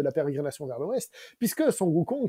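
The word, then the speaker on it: Sun Wukong: pérégrination vers l'ouest puisque sukong c'est la prononciation chinoise donc originale de s Goku s Goku c'est la prononciation japonaise tin voilà donc quand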